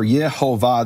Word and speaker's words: Yehovah: recording, who say that the vowels are Yehovah. This is the name of the creator of the universe and the true pronunciation.